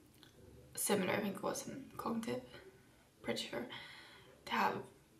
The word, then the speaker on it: id: So the id, like it's spelled the ID, so it, but it's pronounced it because I googled.